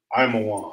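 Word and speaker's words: עמון: How you pronounce Ammon in the Hebrew would be Imawan.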